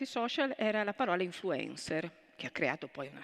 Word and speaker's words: influencer: Non è vero, l'accento influencer, c'era l'accento E grave che corrisponde più o meno, insomma, alla pronuncia inglese, quindi il dibattito era totalmente fuori luogo.